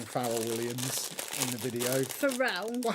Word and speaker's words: Pharrell: Pharrell? Well, how would I know that? I don't know who the guy is. What were you saying? Pharrell Williams. It's spelt Farrell.